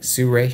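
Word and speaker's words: Sirui: Say it right. Suray.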